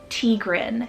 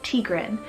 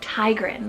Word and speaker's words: Tigran: So I am so sorry about that, but this one's actually an Armenian name, and it's pronounced Tigran, T-I-G-R-A-N, Tigran, but I've been pronouncing it as like Tigran, like tiger.